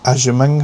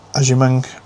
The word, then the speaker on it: Agyemang: Michelle Aimang, I believe, is how you pronounce it.